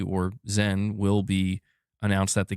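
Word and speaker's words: Xen: Yeah, so it's pronounced Zen.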